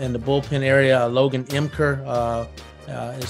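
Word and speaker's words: Ymker: got in the in the bullpen area Logan emker uh is spelled y-m-k-e-r so uh we pronounce it emker and he is um he was a back-to-back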